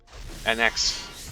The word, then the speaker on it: Anax: So I think I'll take an Anax here. Anax, that's how you pronounce it.